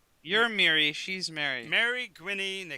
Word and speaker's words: Gwynny: Mary Gwynny, and they call her Quirky. Gwenine?